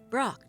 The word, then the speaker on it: Brok: It's Pork, of course. No, it isn't. Brok, Chief. I thought you knew each other well. Yes. What? Just what I thought. You can't pronounce it. You never could.